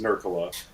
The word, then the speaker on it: Nurkkala: So my last name is Nurkala, and it's spelled Nurkkala, and that double consonant throws people for a loop because it looks so weird. Yeah. But it's actually Finnish, from Finland. Yeah.